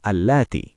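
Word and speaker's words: اللاتي: ব্যবহার করব আল্লাদিনা আর নারীদের ক্ষেত্রে বলব আল্লাতি খেয়াল করবেন শেষের শব্দটিতে আমরা একটু জোর দিয়ে লম্বা করে উচ্চারণ করব আজকে শুধু এই শব্দগুলো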